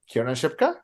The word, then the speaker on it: Kiernan Shipka: Just to show that that Miss, let me pronounce her name correctly. Kiernan Shipka?